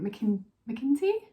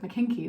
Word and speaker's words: McKinty: believe it is, Adrian McKinty? I think that's how you say it. I almost said McKinkey then.